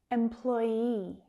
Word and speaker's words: employee: Employee, employee. Now the stress is on that second syllable. Employ, employ, E, that long vowel sound at the end.